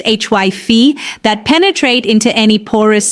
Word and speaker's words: hyphae: Mold grows as a network of microscopic filaments called hyphae, pronounced HYPHE, that penetrate into any porous surface they can access.